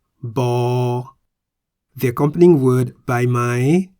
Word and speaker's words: บ: The Thai consonant Bhai Mai sounds like a B at the beginning and end of a syllable. Bo.